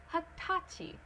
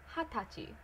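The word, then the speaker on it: はたち: So, do not place it on the second one, like hatachi. Don't do that. Do hatachi. There is a difference, it's audible, so change it.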